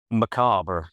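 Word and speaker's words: macabre: say m a c a b r e macob? Macobber.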